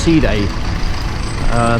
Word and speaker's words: Side: ancient city of day spell s-i-d-e side but it's pronounced sea day very old this place